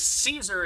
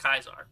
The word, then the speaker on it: Caesar: it's like when really it's a latin name and it comes from the latin language used by the romans therefore it actually would be pronounced kaiser right there's a lot